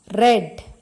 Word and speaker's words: read: Read. R-E-A-D. Past tense of read is read. The spelling is same, but the pronunciation is different. Read past tense read.